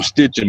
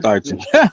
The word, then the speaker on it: Steichen: I used to call him Stitching, but I think it's pronounced Steichen.